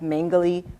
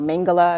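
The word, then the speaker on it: Mengele: death or um uh yoseph mangali or mangala I believe is how you pronounce his name and basically he conducted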